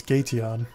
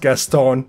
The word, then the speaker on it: Gateon: Because I have it in my mind the way I would pronounce it. I want to hear what you think. Well, it's an evolution, so it's Gateon.